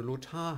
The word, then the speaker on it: Lothar: So hat es zum Beispiel Susanne Lothar gemacht, eine Schauspielerin, die fortan Susanne Lothar heißen wollte Und das wurde dann eben entsprechend auch so eingetragen.